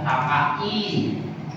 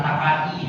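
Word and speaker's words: 高い: di akirnya itu ada Taka i suzusi i yasu i tamu i semuanya adalahakiran huruf i Tapi bacanya bukan takaiai ya tapi Takai suzushi yasui Samui atswiswi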